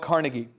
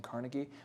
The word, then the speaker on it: Carnegie: quot from d d Carnegie carnegi is actually how you say it and Marshall was correct and I was wrong by saying Carnegie but it makes me feel